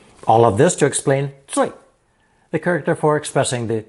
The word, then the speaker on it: 最: Together, this new character is pronounced fourth tone, 最.